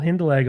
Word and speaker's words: Hindelang: Is that how you pronounce it, Paul? That's correct. Paul Hindelang on the line.